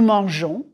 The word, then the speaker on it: mangeons: Je mange, tu manges, il mange, nous mangeons, vous mangez, il mange. The E following the G of mangeons is just to keep the G soft.